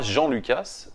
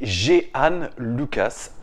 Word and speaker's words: Jean Lucas: de yoann jihane loquace c'est pas jean-luc as la prononciation de jean michel aulas s'était géhanne lukas voilà il a été